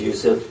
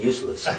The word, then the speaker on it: Yusuf: Can you say Yousef? No, they said it right. How come you keep saying useless?